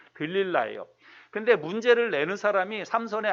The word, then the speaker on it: 들릴라: 우리 학생들하고 같이 캠프 가서 했던 기억이 나는데 삼손의 아내의 이름은 들릴라거든요. 들릴라. 영어로는 델라일라 이렇게 발음하는데 들릴라예요.